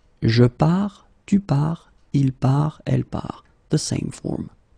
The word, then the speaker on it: part: So the first thing that you've got to keep in mind, you've got this final S, final S, final T, but then you don't pronounce them. So phonetically, je pars, tu pars, il part, elle part, the same form.